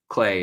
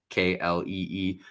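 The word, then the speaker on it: Klee: uh Al Cle's book, Clay is how you actually say his name, but everyone reads it as Cle Kle Ee.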